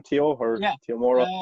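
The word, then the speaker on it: Temuera: name teo or yeah tomorrow tomorrow yeah he is pronounced like that yeah yeah tomorrow morrison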